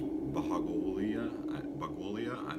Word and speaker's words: Bhagowalia: His name was Bagwalia. I can't pronounce his name. It's Bhagowalia.